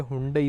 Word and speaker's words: Hyundai: इसका pronunciation Hyundai है। बट हमारे यहां मेनली लोग इसे Hyundai बोलते हैं।